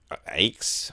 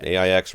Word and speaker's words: AIX: Jonathan, Mark Waldrop, who runs AIX, I think is how you say it. AIX Records. Just an initialism.